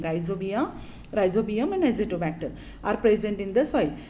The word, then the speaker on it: Azotobacter: Azotobacter, the pronunciation of it is the azotobacter, and here rhizobium.